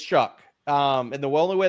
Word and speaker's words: Shough: I I said it like but but it's Chuck um and the only way the best way I could tell people at home and I and I I said this inable Chuck is gonna yeah I'll let you finish that